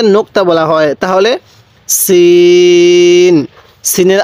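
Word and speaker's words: سين: বলা হয় তাহলে সিন সিনের আওয়াজটা একটু চিকন করে শক্ত করে উচ্চারণ করব সিন এরপরে সিন এই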